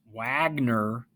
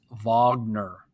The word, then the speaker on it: Wagner: called richard wagner now it looks like it's pronounced wagner but it's actually pronounced wagner he was german he used to listen to